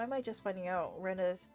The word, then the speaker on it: Rena: Reina sounds pretty cute. それでレイナじゃなくてレナって読むのか？ Rena instead of Reina.